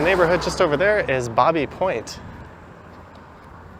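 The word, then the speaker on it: Baby Point: The neighborhood just over there is Bobby Point. I've heard locals pronounce it as Babby Point, some as Bobby.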